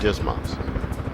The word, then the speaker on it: DSMS: stores management system or dsms often pronounced dismas we'll conduct this lesson